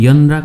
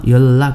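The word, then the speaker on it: 연락: हैन यल्लागुल छुगो फात्ता तपाईले यसलाई पनि यन्राक नभनिकन यल्लाक भन्नु पर्छ फाछिम न लगतै माथि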